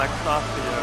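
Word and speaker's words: Laxasia: Lexasia, okay, I guess I was pronouncing it wrong.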